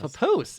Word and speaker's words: papoose: Papoose.